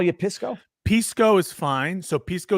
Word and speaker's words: Pisco: no it's okay because people also call me like piss Corporation piss company so it's okay I don't mind it but the actual pronunciation is Pisco but you can say